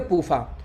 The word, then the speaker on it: PUFA: तो पूफा शॉर्टकट में हो गया, PUFA, इसको शॉर्टकट में पढ़ेंगे पूफा।